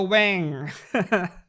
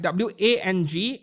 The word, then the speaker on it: Wang: Wang. Actually, right, W-A-N-G, over in English-speaking countries, you all pronounce it as Wang, right? It is actually Wang. Right? In Mandarin, it is pronounced as Wang, not Wang.